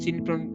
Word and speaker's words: cin: Okay, like here cin is used for cout is pronounced as cout and cin pronounced as cin.